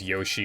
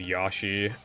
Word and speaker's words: Yoshi: the United Kingdom um a lot of people from the UK pronounce Yoshi as yashi and I [ __